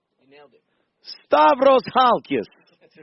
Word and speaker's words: Stavros Halkias: I always get the name wrong. Stavros Halkias. You nailed it. Stavros Halkias.